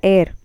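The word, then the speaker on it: heir: Rajendra Chola the एयर एंड सन of Raja, एयर means H is silent, इसमें H silent है, देखिए द एयर means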